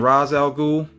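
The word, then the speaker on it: Ra's al Ghul: ghoul or rache algul you know i've heard the pronunciation both ways even within dc movies and cartoons and whatnot um i'm used to saying raz algul but you know if you want to say race that's cool you know this is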